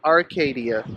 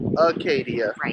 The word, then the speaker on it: Acadia: Not Arcadia, but Acadia National.